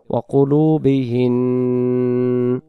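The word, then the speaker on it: وَقُلُوبِهِنَّ: নুন অক্ষরের উপরে যে জবরটি রয়েছে এই জবরটি আমরা পড়ব না। কেন? আমরা এখানে দমটা ছেড়ে দেব, এ কারণে জবরটাকে আমরা ওয়াকফ করব।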